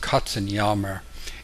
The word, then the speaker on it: Katzenjammer: And in German, it's pronounced Katzenjammer.